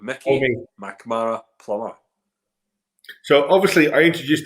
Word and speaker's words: Mackmyra: So most people say Mackmyra, and they pronounce it M-Y. Right, so Mac, everyone gets the Mac bit, not a problem. So yeah, so in the Swedish, it's actually Mackmyra. Mackmyra. So, listen, I'll say that. I'll say. Hopefully, everyone else can get that. Mackmyra. Everyone at home pronounce it properly. Mackmyra. Change the Y to a double E, so it'd be Mackmyra if you do it that like way.